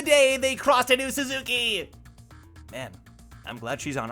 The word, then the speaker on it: Suzuki: The way they say Suzuki, you should pronounce it like there's only one O, says Midori. First of all, what's up, Midori? Second of all, really? Suzuki.